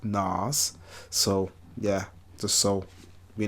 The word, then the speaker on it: Nas: So I had to didn't have to start with, but I'm a fan of Nas, but like he likes it to be pronounced like Nas.